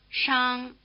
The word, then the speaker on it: 商: The first of these fricative sounds, the one spelled SH, is rather like our SH sound, except that the tongue is curled back in the R position. Listen. 商、商、商。